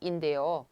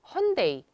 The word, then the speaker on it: Hyundai: nói những thứ như heonday, hayundai và huindai, những từ này hơi khác so với cách phát âm của người Hàn Quốc hiện đại .